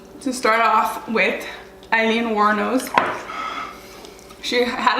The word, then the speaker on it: Wuornos: Wuornos. Yes. It's spelled weird, but that's how you pronounce it. Wuornos.